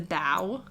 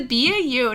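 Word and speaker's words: BAU: And she pronounces B-A-U, the bow. So she's always like, and then they went to the bow at Quantico. And I'm like, it's the B-A-U, not the bow.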